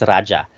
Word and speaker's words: Raja: manila was actually um is the spanish pronunciation if you want to be closer to our pre-colonial roots it's raja so king of manila